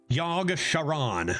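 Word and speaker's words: Yogg-Saron: claims another victim yog shiron I'm going to read it like Sheron and not Sharon I know a Sharon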